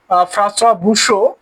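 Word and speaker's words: François Boucher: পৌরাণিক ছবি, নারীর সৌন্দর্যের ছবি, এই ছবিগুলো ফ্রান্সোয়া বুশো বেশি এঁকেছেন।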